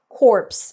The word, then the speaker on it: corpse: So corpse is pronounced like that, corpse, and that means the dead body, and core, like the Peace Corps, is pronounced without the P and without the S.